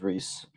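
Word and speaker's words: Rhys: you who don't know my name is Reese like the candy except it's spelled like our hy s and it's sweet but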